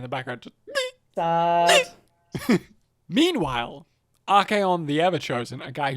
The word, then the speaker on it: Archaon: Meanwhile, Archaon the Everchosen, a guy whose name I correctly pronounced this time instead of Archon.